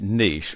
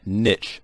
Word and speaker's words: niche: In this video, I want to talk about picking the right niche, or picking the right niche, as some people pronounce it.